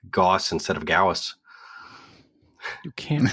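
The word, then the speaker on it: Gauss: I know it's wrong I know it's German the correct pronounce would be gaus riceful yeah oh is that is that why oh okay I like both of them I really like Goss rifle gaus rifles sound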